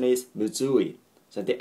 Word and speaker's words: むずい: of yes not muu or muu e but muui okay the pronunciation is muui so the accent is on okay on all